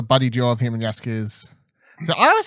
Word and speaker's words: Jaskier: duo of him and Jaskier. So I always say Jaskier, I don't know, whatever. I think it's that kind of J. I think it's Jaskier because it's Polish and the Y goes. That's why I always say